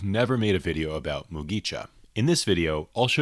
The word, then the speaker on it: Mugicha: The Mugicha pronunciation is simple, with just 3 syllables, mu-gi-cha.